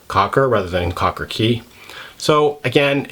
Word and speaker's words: cay: from all my research the most correct way to pronounce it is key like uh like a key that opens a lock and I believe that